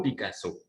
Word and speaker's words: Picasso: par le picasso minoritaires en france l accent tonique et tombe sur la dernière syllabe alors petit pablo picasso hockey et comment s'appelle le